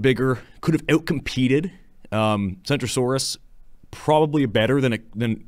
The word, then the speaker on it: Centrosaurus: Kentrosaurus is spoken with a hard K while centrosaurus is pronounced s like C so it's so it